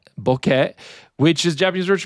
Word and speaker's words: bokeh: The E sound is pronounced bokeh, which is Japanese word, which means blurry or hazy.